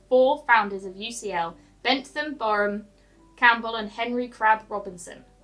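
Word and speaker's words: Brougham: Borum was you don't pronounce the R. Borum was a supporter of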